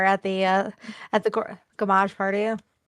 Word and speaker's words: Gommage: Stop saying gourmage. Damn it. I'm trying to say gamage. Gamage. I'm trying to say it correctly.